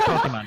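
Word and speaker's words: Pokémon: It's Pokemon. Pokemon is correct.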